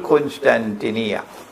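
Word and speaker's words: القسطنطينية: Notice that the hadith goes on to say, Khurujul Malhama Fathul Constantinia. I pronounce it as Constantinia, but in Arabic they pronounce it as Constantinia. Kos, not Kun. Constantinia is closer to the original.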